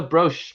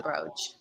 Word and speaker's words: brooch: is it a bro i thought it was a broch because it has an e on the end no it's a brooch or whatever nothing else in